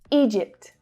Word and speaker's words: Egypt: So there's the long E vowel sound followed by the J consonant sound. Egypt, Egypt. Now don't forget the last consonant sound, the T. Egypt, Egypt, Egypt. So listen out for the final two consonants. They are both there, though the P reduces a little and it's without the air pushing.